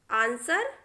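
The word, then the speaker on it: answer: Whole, हुम, whose, whoever, आंसर, टू। इन शब्दों में भी आप देख सकते हैं बच्चों कि डब्ल्यू जो है बिल्कुल साइलेंट है, उसको हमने कहीं भी नहीं पढ़ा है।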